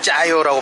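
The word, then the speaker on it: chả giò: 자, 이거는 짜요라고 발음하죠. 짜지요라고 절대 안 하죠.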